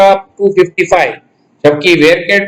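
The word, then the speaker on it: VARCHAR: दूसरी data type जो आती है उसका नाम है वेरकेर डेटा टाइप। कुछ बच्चे क्या करते हैं, इसको प्रोनाउंस करते हैं वारचार। वारचार नहीं है, इट इज कॉल्ड एज वेरकेर। वापिस सुन लेना इसका प्रोनाउंसिएशन, वेरकेर।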